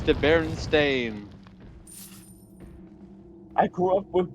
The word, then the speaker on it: Berenstain: It's the Berenstain. I grew up with Berenstein. Heresy. No, it's not heresy. I remember it as Berenstain. Berenstein until actually it was Berenstain, and there was a big Mandela effect around it.